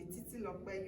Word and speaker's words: Titilope: But the tribal name, Titilope, the Titilope, you might be feeling that there's K there because of, but there's no K, it's just P, we call P, like KP.